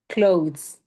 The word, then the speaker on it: clothes: So this is a silent TH. It should, right now, the way you say it, it should sound the same as close, like close the door. Mhm.